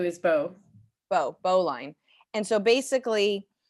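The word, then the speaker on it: Beau: u's line o b e a u is bo bo bolin and so basically when you have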